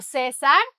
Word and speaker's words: César: Julio César, acento en la E, Julio César le mandó un mensaje.